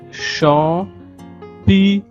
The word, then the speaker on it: champignons: Le C et le H se prononcent che, comme dans chat, che, chi, che, chou, comme dans shalom, comme dans shampoing. Des champi, et le G et le N se prononcent gne. Nia, gne, ni, nio, nu. Donc, ce sont des champignons et non, pour les Espagnols, des champignons.